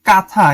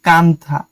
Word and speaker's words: কাঁথা: ঠিক আছে, চন্দ্রবিন্দুটা অনেকটা একটু নাকে বাজে, তাই এর উচ্চারণটা হওয়া উচিত কাঁথা, কাঁথা। ঠিক আছে, এরকম নকশি কাঁথা। কিন্তু আমরা তো একদমই প্লেন ভাবে উচ্চারণ করি নকশি কাঁথা, কিন্তু সঠিক উচ্চারণ হচ্ছে কাঁথা, সেজন্য একটা এন দেওয়া হয়েছে।